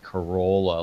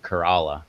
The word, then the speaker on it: Corolla: No, but there's a town north of me that's spelled Corolla, like Corolla, like the stupid Toyota, but it's pronounced Kerala, just like he put in there.